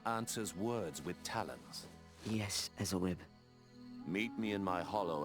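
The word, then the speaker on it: Ezylryb: I say Ezelrib, because that's how I pronounce it in my mind. They say Ezelrib.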